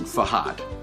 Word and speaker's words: FAHART: The pronunciation, you got to get that H in there. Pronunciation is important. FAHART.